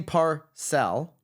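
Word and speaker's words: Parcell: coming out guns blazing Kenny Parr sell yeah I think notorious Rob last week said that's how you pronounce it yeah yeah they were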